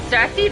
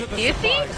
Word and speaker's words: Cersei: And um, I don't trust this game because they don't know how to pronounce Cersei. They say Cersi.